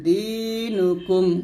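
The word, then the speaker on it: دينكم: এরকম তাহলে লাকুম দিনুকুম দিয়ে টান দিবেন লাকুম দ্বীনুকুম ওয়ালিয়াদিন তাহলে এই আয়াতের অর্থ হবে যে ওয়ালা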